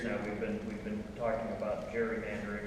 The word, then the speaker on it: gerrymandering: 200 years now we've been talking about gerrymandering or gerrymandering. It should be pronounced actually.